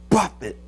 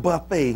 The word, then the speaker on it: buffet: But Paul said, I buffet, not buffet, not Golden Corral buffet. It's spelled the same way, though, isn't it?